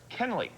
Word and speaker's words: Kuehnle: my first question was, how do you pronounce, look at the spelling of the school. Of course, the Klein district is a lot of German heritage up there. Kuehnle Elementary School, K-U-E-H-N-L-E.